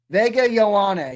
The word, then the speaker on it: Vega Ioane: Wow, even the commissioner butchered his name. Vega Ioane. Vega Ioane. Vega Ioane is how you say it, I guess.